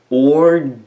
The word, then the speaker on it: Ordovician: Ordovician.